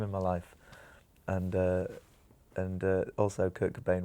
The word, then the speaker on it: Kurt Cobain: Good time in my life, and also Kurt Cobain rhymes with Frasier Crane, and it's too irresistible.